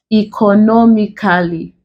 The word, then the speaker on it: economically: Here we have, if you were to add a suffix to this one, economically, the stress placement still remains on the NO.